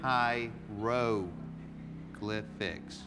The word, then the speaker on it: hieroglyphics: Rogue left lift X you're saying High row glyphics that's the way to say it right say it again